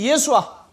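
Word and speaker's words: ישוע: 다 같이 예수아. 아수예라고 읽으면 안 돼요. 다 같이 예수아.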